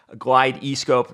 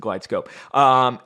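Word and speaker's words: GlideScope: end we got a glide East cope no it's not pronounced that way it's a glide scope and so I was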